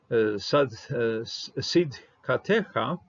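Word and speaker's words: צדקתך: Sidkatecha, there's a matech here, and because of matech, I'm willing to pronounce the shava.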